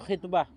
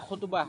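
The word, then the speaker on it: خطبة: dalam menjelaskan khitbah ibumu Bagaimana cara membaca khitbah B dengan kasrah IB kalau beliau mendabit dengan kasrah Berarti ada cara baca lain makanya perlu diabit Kalau kalimat cara bacanya cuma satu Biasanya enggak diabit karena ini misalnya menyatakan khbah bacanya dengan kasrah k jangan baca khutbah kan gitu berartibah beda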